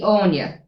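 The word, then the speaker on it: Áine: Like we've got AINE. So they would have thought that was Annie. Yeah. Yeah. And that's And understandable. There's a correct, fucking yeah. musical called Annie Yeah. and it's spelled that way. Yeah. So, But it's Like- actually Anya.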